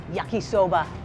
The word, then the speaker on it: yakisoba: We're back in the kitchen at Walton's International Comfort Food, and we are making peppered beef yakisoba.